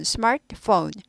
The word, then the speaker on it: smartphone: phone, smartphone. t는요 스마트 하지 않죠. 그래서 거의 스타카토처럼 찍고 끊고 넘어가는 거죠. smartphone R 하고 구부리다가 t는 잘 발음 안 되고 그러니까 거의 스타카토식으로 잠깐 끊고 넘어갑니다. smartphone 이렇게 되죠.